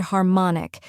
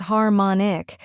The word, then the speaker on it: harmonic: Next is mon, which rhymes with gone and is the stressed syllable. Finally, ik, which sounds like ick in sick. Now let's put it all together. Harmonic.